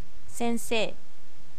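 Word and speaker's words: 先生: Même chose quand elle a prononcé Sensei, le I à la fin, vous ne l'avez pas entendu. Si tu veux redire une fois. Sensei. Voilà, ça donne un espèce de E un peu long.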